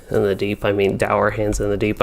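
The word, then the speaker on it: Dourhand: the deep i mean dour hands in the deep i've always called them durham's but i'm pretty sure it's actually pronounced our hand probably run through this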